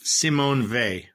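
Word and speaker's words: Simone Weil: the source okay okay her niece says it's Simon V got it and that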